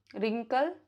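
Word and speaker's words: wrinkle: Letter W is not pronounced if it comes before R at the beginning of the word. जैसे wrist, ring, रिस्टलेट, road, wreath, wrist watch, road, रिंकल, wrist band.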